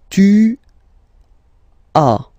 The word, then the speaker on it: tu as: Okay, second one, tu as. Okay, as usual in French, final S is not pronounced.